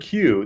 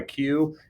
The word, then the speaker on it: queue: Some people call that a queue. It's spelled Q-U-E-U-E, Q-U-E-U-E. But the U-E-U-E is silent. All you say is Q.